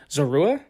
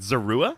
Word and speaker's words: Zorua: And if my digging is correct, it's a Hisuian Zorua? Yes. Is that pronounced correctly? Okay, there we go. Is it Zorua? Did I say that right? That's how I pronounce it. Zora?